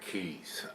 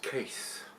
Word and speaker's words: Kees: This comes from, over here it's pronounced Brouwerij Kees, but he's telling me that he sent me an email today because he's seen the first beer review, I guess, and said it's pronounced Case, like C-A-S-E.